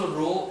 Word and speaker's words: rho: As the temperature changes, R changes and hence the rho changes. And this symbol denotes resistivity and it is pronounced as RHO, not rho।